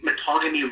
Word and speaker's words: Mattagami: field wow now how do i say it matagami matagami first nation yeah it would be pronounced first nations along the metagamy river and we are now with the relocation